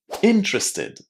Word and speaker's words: interested: But the stress here is on the first syllable. Listen. Interested.